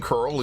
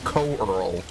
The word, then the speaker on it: Curl: See, that's the one thing you get about Pouncing Curl is you get to do it twice per demolish, which is awesome. Peak. And yes, I know it's pronounced curl. It's not co-arl.